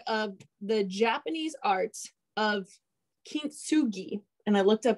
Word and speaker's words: kintsugi: But I don't know if you guys have heard of the Japanese art of kintsugi. And I looked up how to pronounce this so that I would say it the right way.